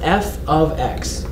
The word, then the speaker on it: f(x): of the parentheses you put X that is pronounced F ofx that's how that's pronounced f f of x